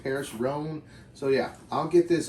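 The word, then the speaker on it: Paris Rhône: what all is included I believe the brand is pronounced Paris Rhone so yeah I'll get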